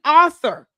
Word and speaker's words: author: It's called an author. You're an author? Is that what you're trying to say? Why are you complicating that? Author. It's 2 syllables.